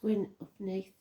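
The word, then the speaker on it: Gwyn ap Nudd: the hunt or even GW UPN pronounced gwin upne King of the fairies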